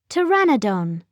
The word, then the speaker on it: pteranodon: winged and toothless how do you say it pteranodon say to a pteranodon is bigger than a